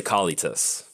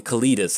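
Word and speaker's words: Kalitas: guys say calli toss I say call etus okay like see somebody called him Kalidas that I thought that was their stupid like I cannot handle that I'm like it's make some sounds like Cletus like an old license yeah like a country folk I'm like no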